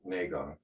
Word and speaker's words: Qigong: Okay, so with Qigong, Qigong, actually Don pronounces it Qigong.